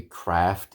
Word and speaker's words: Craft: with you guys and I'm gonna butcher the guy's name because it's given my British pronunciation but anyway I'll show you so um Kyle Kraft will be Kraft in the US I just I just can't do it I have no problem with saying tomato I've been in the u.s. long enough that that's fine I just just certain words I just can't do the American pronunciation Kraft is one of them but anyway